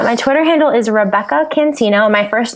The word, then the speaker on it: Cancino: Yeah, my Twitter handle is Rebekah Cancino. My first name is spelled Rebekah. Last name Cancino, Cancino.